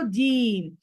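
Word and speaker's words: ج: তারপরে কি করব আমরা, তারপরে পড়বো জিম, জিম, জিম।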